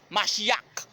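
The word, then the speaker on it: Mashiach: Parce que H là, vous prononcez comme K, Machiac. Qui veut dire Messie.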